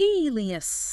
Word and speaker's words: alias: Alias. The alias. The spelling is a little deceptive for the sound, I think, but the meaning seems straightforward.